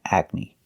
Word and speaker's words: acne: They all end with an E that makes the same sound, the long E sound, like green beans. Recipe, coyote, sesame, adobe, karate, apostrophe, catastrophe, and acne.